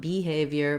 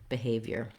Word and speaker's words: behavior: And then we have the IOR here in the last syllable, behavior, veer. You can think of that as an ear or also just a y sound with a tense sound, yer.